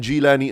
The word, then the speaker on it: Jillani: And who better to start with than the great Qutb, Sayyidina Abdul Qadir, Muhyiddin Abdul Qadir al-Ghailani, pronounced Ghailani and Jillani as well.